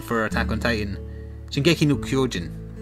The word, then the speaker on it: Shingeki no Kyojin: what's the Japanese pronunciation for Attack on Titan? Shingeki no Kyojin.